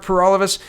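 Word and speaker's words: Paralikas: vote my name is pur all of us that rhymes with for all of us and I'm the gwelf candidate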